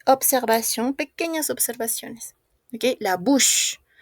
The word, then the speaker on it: bouche: Ok, la bouche. On ne prononce pas la E.